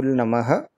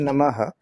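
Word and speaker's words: नमः: So Namah Shivaya, we don't say the ha too much in Namah Shivaya, right?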